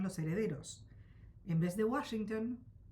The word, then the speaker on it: Washington: En el inventario de la testamentaria, el notario escribió el nombre como lo pronunciaban los herederos. En vez de Washington, Guasinton.